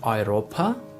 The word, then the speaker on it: Europa: The next letter combination is EU and AU, which is pronounced like oi, and the example for oi is Europa, which means Europe.